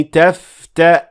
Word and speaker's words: تفتأ: And you will only pronounce Hamza with sukoon. And it will sound like this. قالوا تالله تفتأ.